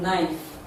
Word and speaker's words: knife: floaters k n hi ght it's a silent knife spelled as k-n-i-f-e nickels spelt as k-n-i s c-k-e-r-s is silent in bling sing the sound is produced